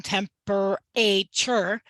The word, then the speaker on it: temperature: can almost get there a student just needs to learn the vowel a in the third syllable in temperature says the schwa sound so it says uh so knowing how to